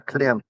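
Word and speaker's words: Klim: It's Climb or Clim. It Mhm. should be pronounced Clim, but the Americans call it Climb.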